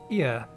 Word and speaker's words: Ea: When the vibrations of vocal folds was still required to converse our thoughts and intentions, ear, I believe, was the pronunciation used when referring to our people.